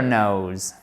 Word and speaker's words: knows: One never knows. Exactly. On prononce bien le S, puisque c'est le S de la troisième personne du singulier, mais on ne prononce surtout pas le K.